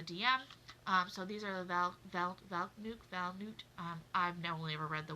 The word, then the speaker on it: Valknut: It looks like, if you read it on paper, Valknut, but I have heard that it is actually pronounced Valnut.